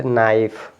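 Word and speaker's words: knife: तो आप पढ़ेंगे नॉक के साइलेंट नाइफ यहां पर के साइलेंट हो जाएगा य नले और य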